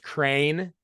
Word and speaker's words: Crean: I always have to tell people now it's pronounced crane for anybody that's confused or just doesn't because